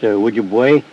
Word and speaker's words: Ojibwe: The Ojibways, pronounced Ojibwe, the Crees, and the Sotu were among those MacDonnell encountered by the River of Death.